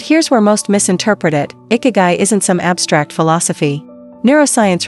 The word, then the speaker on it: Ikigai: The answer lies not in what they remove from their lives, but what they add, a cultural principle called Ikigai, pronounced Ikigai, loosely translated as reason for being.